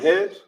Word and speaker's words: head: So we got the word head.